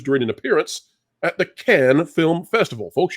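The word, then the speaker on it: Cannes: an appearance at the can film festival folks you don't pronounce the S it's French they're weird that way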